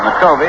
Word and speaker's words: McCovey: his minor league career this fellow was called mccovey that's the way he pronounced it nakobi and when he got to the major league with the giants uh everybody called him a covey so he said all right coming until he took